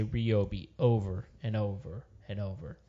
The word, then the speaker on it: Ryobi: Yeah, so we're gonna be so Ryobi or Ryobi. It's Ryobi. How do you say it, Ryan? I say Ryobi. There you go. Of course you do. Good man. Because you're a consumer. No, because it's like my name, Ryan, well, Ryobi.